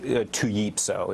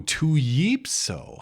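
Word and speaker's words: Tpyo: name is it's Dominick to yepo it's a per El are silent ooh to yepo how exotic how intriguing how peculiar the L is silent if the Exotic name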